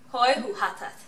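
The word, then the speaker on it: Hoi, hoe gaat het: Hoi hu hatat. Okay, so the G, the way we pronounce the G is really harsh, right? It's like oh. In the back of your throat, you say hoi hu hatat.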